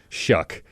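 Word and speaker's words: Shough: g h is like it's just means it's pronounced shuck and he there is one like kind of Icelandic definition of that it's a little shaggy dog and it's like yeah, cool.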